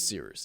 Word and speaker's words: Cyrus: My name is Seerus. It's spelled like Cyrus, pronounced like Rooster. Just take out the ter.